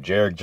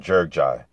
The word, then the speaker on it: Gjergjaj: David Haye versus Arnold jerck ji uh fight now I've heard his last name pronounced different ways from watching his fight on his fights on YouTube Jer ji and jerk ji so I repr pronounce